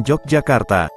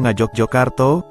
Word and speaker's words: Yogyakarta: Dalam penggunaannya sehari-hari, Yogyakarta lazim diucapkan Yogyakarta, atau Ngajogjokarto, dalam bahasa Jawa.